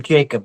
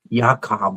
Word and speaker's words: Jakob: I keep calling him Jacob, but that's not how it's pronounced. It's uh, he's from Denmark, and it's like Jakob or something like that.